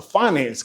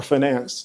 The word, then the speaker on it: finance: I went into a finance class of all things or finance, depending on how you say it.